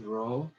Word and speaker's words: Rho: of Rho of Rho is the resistivity is pronounced Rho then alpha is the temperature coefficient of resistivity